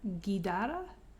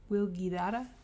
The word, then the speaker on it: Guidara: Unreasonable Hospitality by Will I don't know how to pronounce his surname, Gedara. Gui d a r a Will Guidara. I think that's how you pronounce it.